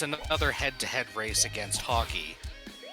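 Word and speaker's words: Hawkee: And also, the last stage of the game, I swear it's it's another head-to-head race against hockey. And I spelled like hawk but with two e.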